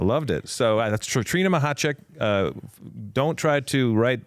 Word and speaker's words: Machacek: me oh I loved it so that's Trina mahat uh don't try to write it like you spell it or like you say it because you'll